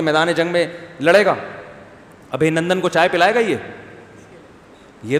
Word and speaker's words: ابھی نندن: کسی نے بتایا ابھی نندن ہے, ابھی نندن نہیں ہے, صحیح تلفظ کیا ہے بھائی, ابھی نندن, تو وہ اتار لے گا اس کو.